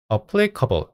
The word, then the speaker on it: applicable: 같기도 하고 다르기도 하네요 두 가지 발음이 있습니다 applicable applicable이라고 발음할 수도 있고 블이라고도 할 수 있네요 어 항에서 그 항등식을